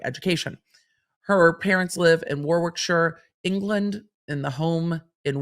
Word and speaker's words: Warwickshire: mother grew up in Warwickshire I hope I pronounced that properly um I don't think you say Shire I think it's sure you'll let me know I'm sure in the comments in Warwickshire England her family having